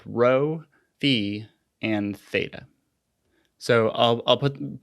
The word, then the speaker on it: phi: This one's called phi, P-H-I.